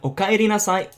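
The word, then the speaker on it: おかえりなさい: Now try not to pronounce that E sound in Romaji. Try not to pronounce it as an I or an E sound. It's actually the letter E, so it should be pronounced as E. So it's okaeri nasai, not okaeri nasai. It's okaeri nasai. Try to pronounce it the way I do.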